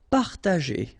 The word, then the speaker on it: partager: Partager, okay, parta, and then here, G and E after, well, R in that case, it's the sound E, so you pronounce it J, G, okay, partager, partager.